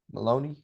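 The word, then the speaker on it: Moloney: Maloney, that's how you say his name.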